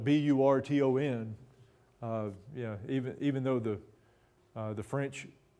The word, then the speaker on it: Burton: And it's actually, in this case, it's spelled B-U-R-T-O-N. Yeah, even though the French spelling was usually B-R-E-T-O-N and is often pronounced Britain. In this case, it's Burton.